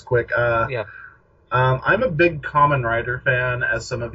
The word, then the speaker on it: Kamen: It's like they couldn't even pronounce Kamen right. I know it's. I mean, there's the way they would pronounce it made me think of the word COMM. He's a common rider. Yeah, like you're a garden variety every day common rider.